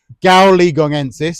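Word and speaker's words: gaoligongensis: So I think the correct uh pronunciation pronunciation is gualiegongensis. Yeah, yeah. reason it is is because it comes from the gualiegong mountains in China.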